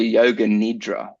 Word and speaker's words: Yoga Nidra: parts of your brain I've been getting into Yoga Nidra that's how you say it oh yeah so